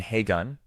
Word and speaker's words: Kevin Hagen: Kevin Hagen, pronounced KV in Hagun, was born on April 3rd, 1928 in Chicago, Illinois.